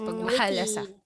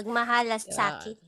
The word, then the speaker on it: Pagmahalasakit: And mahirap siyang i-pronounce. Pagmahalasakit. with T, yes. Yeah. Pagmahalasakit.